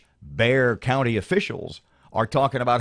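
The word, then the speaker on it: Bexar: in reference to the San Antonio area its bear county but it's spelled B exa are just to give you guys a heads up is pronounced bear so it's like Louisiana I maybe this is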